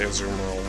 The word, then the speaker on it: Azumarill: I'm like, actually no, I'm entirely sure that's how you say it, but because it has Meryl in its name, it's weird you don't put emphasis on that part.